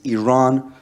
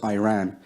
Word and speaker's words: Iran: the Iranian people but you're pronouncing our country's name wrong our country is named Iran not Iran please one once and for